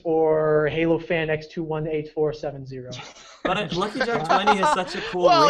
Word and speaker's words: LuckyJack020: And I realized I could maybe just silent out the first zeros, and I just said Lucky Jack 20. With a silent 0.